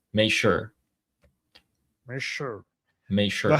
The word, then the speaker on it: Xi: Is it not she?